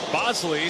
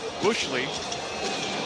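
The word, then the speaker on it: Boushley: Bosley spelled as if it should be pronounced Bushley has a 5.93 erra in 23 appearances this year.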